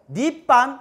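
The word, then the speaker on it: 涅槃: 역시 중국어 하실 줄 계신지 모르는데 저도 좀 발음이 좀 저질 발음인데 열반, 한글 발음인 열반이 한문으로 중국식 발음으로 니빤 이래요.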